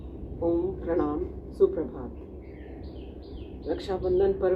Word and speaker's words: ओम: अ उ की संधि करते हुए ओ का उच्चारण अधिक समय के लिए और म का उच्चारण मुंह को बंद करते हुए क्षण भर के लिए।